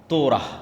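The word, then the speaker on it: תורה: তোরাহ বলে ইহুদিরা উচ্চারণ করে যে তোরাহ যখন তাওরাত দেওয়া হলো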